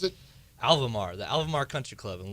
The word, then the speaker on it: Alvamar: How do you pronounce it? Alvamar, the Alvamar Country Club in Lawrence, Kansas.